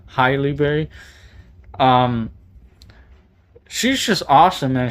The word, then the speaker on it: Halle Berry: I actually bought this movie for Halle Berry or Highly Berry. I I think I said it right the second time. Highly Berry.